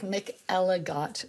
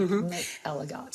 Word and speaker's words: McElligott: I guess it sounds like Mick Ellott. I mean, that's what phonetically it sounds like. Mick Eligot.